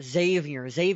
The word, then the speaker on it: Xavier: Okay, Xavier Rhodes. We drafted him 25th Xavier overall. Rhodes. So Xavier. It's spelled with an X, pronounced with a Z.